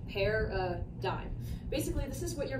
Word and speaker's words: paradigms: be a video explaining paradigms this is pronounced pair a dime basically this is what